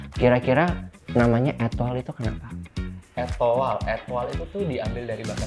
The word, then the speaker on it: Etoile: Etoile itu tuh diambil dari bahasa Prancis. Ya. Sebenarnya bacanya bukan Etoile, tapi kayak Etoile.